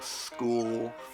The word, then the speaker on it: school: Basically that OOL, like school, fool, tool, like we sort of pronounce the idea of the L.